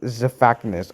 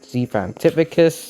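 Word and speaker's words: Xiphactinus: And the last creature I have is the Zephactinus. I used to call these guys Zephantificus, and yeah, that's just wrong how you say it.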